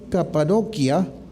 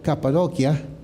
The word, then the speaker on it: Capadocia: en el mismo lugar, Capadocia. Sé porque mi papá ha viajado hasta allá y me corrigió, me dice Brian, ahí no se dicen Capadocia, no dicen Capadocia, sino Capadocia.